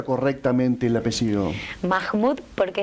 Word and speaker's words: Mahmud: pronuncia correctamente el apellido mahmud porque es ascendencia árabe así que la h se produce como jota pero en realidad nadie